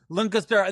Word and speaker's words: Lancaster: I've spent enough hours and days there that I know how to say it. Lancaster. There's no E in it, my friend.